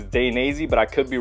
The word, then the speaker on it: Dainese: However you guys want to pronounce it, I believe the correct way to say it is Dainese, but I could be wrong.